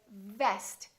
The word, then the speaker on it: vest: So for example, when you say vest, make sure that it doesn't sound like west. So V is just the lower lip touching the upper teeth, vest.